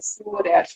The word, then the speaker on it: Surer: O R fica R, Ah, né? Surer.